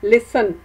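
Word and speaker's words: listen: से मेरे साथ बोले लिसन तो शाबाश आपने बिल्कुल सही पहचाना पति जो है वह साइलेंट है आप देखें फिर से बोले लिसन लिसन तो इसमें पति साइलेंट मैं इसी तरह यह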